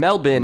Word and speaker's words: Melbourne: guys land on that if it's spelled Melbourne and melbin is how you say it in their accent aren't I still pronouncing it correctly when I say Melbourne I don't know but